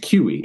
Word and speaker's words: CUI: If you are somebody who is a government contractor and you have any sort of confidential, unclassified information, CUI, pronounced QE, and it's the legitimate term that they use in government contracting.